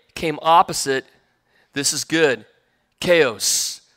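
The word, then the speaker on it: Chios: Chaos, right? Sounds like chaos is how this is pronounced.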